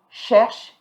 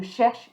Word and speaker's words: cherche: So here you don't pronounce the E, but you're going to pronounce the sh. Je cherche une table.